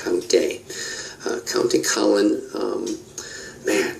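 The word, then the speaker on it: Countee: what appears to be you would pronounce it count D but it's it's pronounced count day uh County cin um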